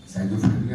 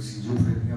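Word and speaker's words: schizophrenia: साइजोफ्रेनिया बोलिएगा, कोई सिजोफ्रेनिया बोलता है, बात है प्रोनाउंसिएशन में डिफरेंस हो सकता है.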